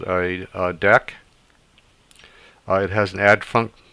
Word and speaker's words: deque: what a deck is um it looks like dq but it's actually pronounced deck so deck also known as a double ended